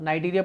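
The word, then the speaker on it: Cnidaria: अच्छा, example of the invertebrate phyla include the पॉरीफेरस, नाइडीरिया, सिनाइड्रा, या आपका क्या पढ़ लो, नाइडीरिया पढ़ लो, सी साइलेंट है, प्लेटिथेलमेंथा आ गया आपका, एनलिडा आ गया, मोलस्कस आ गया, और आर्थ्रोपोड आ गया।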